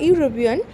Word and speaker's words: European: is a university our European in those cases the vowel is not sounds like a vowel it sounds like I had pronounced like a consonant so a will be